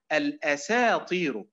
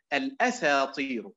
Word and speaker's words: الأساطير: طيب الفرق بينهما النبر، أقول لكم بالأداء الخاطئ هنا تنطق الأساطير كلمة واحدة، طيب بالأداء الآخر الصحيح الذي يؤدي إلى المعنى الصحيح والإعراب الصحيح الأساطير، اسمعوا، الأساطير عبارة عن كلمة واحدة، الأساطير عبارة عن إيه؟